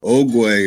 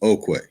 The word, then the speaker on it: ögwé’öwe: So ögwé'öwe is also pronounced okwe.